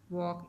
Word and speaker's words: walk: WALK वॉक। इसमें L जो है वो साइलेंट है, लिखा नहीं जाता।